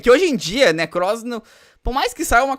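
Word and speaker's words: Nekroz: Desculpa, eu não gosto de falar da pronúncia das pessoas, mas eu fiquei um pouco agoniado de como ele tá pronunciando Necross. Neocrox.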